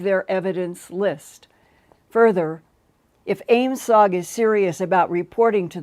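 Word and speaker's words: AOIMSG: the new aim sugg that's how they pronounce the acronym a-o-i-m-s-g aim sog it means airborne object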